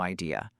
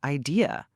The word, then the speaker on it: idea: Now, let's look at I have no idea. The word idea, how do you pronounce it? It is idea. 3 syllables. Good. I-D. Ah. Let's say it slowly together. I-D-ah. I-D-A. Idea.